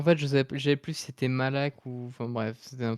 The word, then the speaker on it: Moloch: Bah, du coup, c'est Moloch.